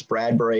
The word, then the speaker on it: Bradbury: your your name i i know it's bradbury and i think i said bradley that's my name bradley